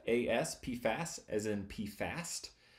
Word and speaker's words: PFAS: no puff us it's it's a weird acronym because you don't actually pronounce out the whole acronym its p fast there are a lot